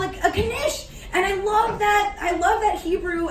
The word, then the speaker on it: knish: We're gonna pronounce every single letter with every single word we speak because we weren't allowed to and now we are.